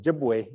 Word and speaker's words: Ojibwe: the word chipa was a word that was mispronounced as as the settlers heard us saying jibu they were they were hearing chipa and I